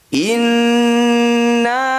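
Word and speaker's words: إنّا: Walladzina yumassikuna bil kitabi wa aqamus shalah inna la nudhi'u ajral muslihin. Kita ulang sambil bahas tajwidnya. Inna, nun bertasydid. Ini disebut bacaan gunnah musyaddadah. Cara bacanya bunyi nun kita dengungkan atau ditahan 2 harokat.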